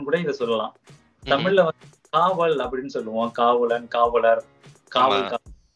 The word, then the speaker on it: kawal: மலாயில வந்து காவால் சொல்லுவாங்க. காவால், காவால் உச்சரிப்பு தான் கொஞ்சம் மாறும். அதோட எழுத்து வந்து KAWAL, காவால் அப்படி வரும்.